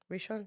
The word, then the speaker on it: Rishon: How do you say rishan? Rishon like it's central next to Tel Aviv.